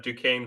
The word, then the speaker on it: Duquesne: Is it Duquesne? Duquesne. Yes. Okay. It's French.